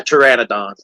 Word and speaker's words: pteranodon: Uh pteranodon is what it's called. Pteranodon. Uh picture of a pteranodon. You would think it would be called pterodactyl, but that P is silent, which is very weird for name of the the dinosaur.